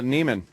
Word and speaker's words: Neiman: Nivens. Is it Nivens or? Oh, Neiman.